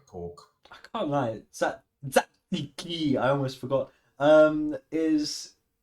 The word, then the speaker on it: Tzatziki: There's not the need for emphasis in like every syllable of that word.